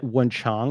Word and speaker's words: Wenchang: How do you spell it? I'm going to pull it up. W-E-N-C-H-A-N-G.